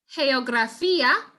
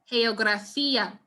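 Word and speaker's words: geografía: you so for example in this case geographia with sounds close to his english equivalent geography or geography perdon you make sure that you say it you pronounce it with the soft g geographia all right and this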